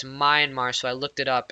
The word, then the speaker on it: Myanmar: myanmar now i was not sure how to pronounce this name it's myanmar so i looked it up and it's also